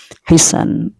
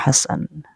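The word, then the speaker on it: حسان: Hisan. Ini Ustadz Adi Hidayat bacanya Hasan. Kalau tulisannya menurut saya Hisan ya. Tapi saya lihat dari beberapa referensi itu Hasan bacanya ya.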